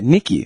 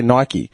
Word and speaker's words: Nike: you know what um Nike yeah do you know what that name means yeah wi in Greek yeah Nikki yeah and we say it wrong in America they say um they say Nike yeah yeah it means Victory it literally means Victory you